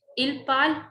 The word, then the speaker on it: parle: ENT is silent. We never pronounce ENT. So the pronunciation comes till here. Il parle, elle parle.